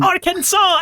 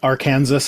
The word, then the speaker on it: Arkansas: I'm sure I've told you this before, but I think I was in my 20s when I learned that our Kansas and Arkansas were the same state cuz like I'd always read one and heard the other, so I I assumed that they were different cuz the S doesn't make that sound.